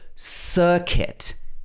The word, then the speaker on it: circuit: bisquit should be biscuit and also circuit is similar so here the c-u-i-t is pronounced kit this is a common